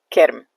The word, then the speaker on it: kirm: I'm not sure if you got that last word, but as I was saying, worm or maggots are called kirm in Dari, okay? Kirm, very easy.